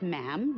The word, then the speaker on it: ma'am: after that it's just ma'am rhymes with jim and it's always a